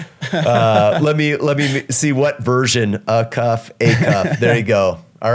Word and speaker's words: Acuff: A cuff.